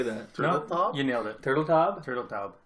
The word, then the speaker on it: Turteltaub: Turteltaub?